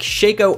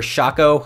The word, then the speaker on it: Shaco: Some honorable mentions for this patch include Xin Zhao, Warwick, Shaco or Shaco, however you want to pronounce it, Lee Sin, Amumu, Rek'Sai, Wukong, and Pantheon.